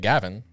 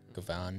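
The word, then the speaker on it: Gavan: it yeah paul gets it um speaking of gavin trying to set you up sorry softball pitching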